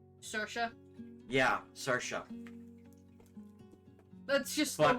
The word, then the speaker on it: Saoirse: That's pronounced different from how it's spelled. Saoirse.